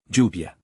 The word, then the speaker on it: lluvia: In Mexico, both spellings always produce the same simple sound. Yo. Ya. Lluvia. All three of those words start with the same sound, whether spelled with Y or double L.